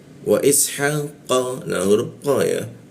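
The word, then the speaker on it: إسحاق: Wa ishaqa, nah huruf qa ya, cara membaca qa itu bibirnya a dia, a tapi keluarnya itu o. Wa ishaqa, qa keluarnya o tapi mulutnya a, qa seperti itu ya.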